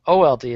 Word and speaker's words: Auld: See, it's not old, O-L-D. It's A-U-L-D. It's pronounced old. Yeah, it's the Scottish old.